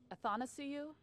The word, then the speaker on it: Athanasiou: I'll see you in Traverse City in September, and for the record, Athanasiou, is that how you say it? Athanasiou. It's like I want to see you.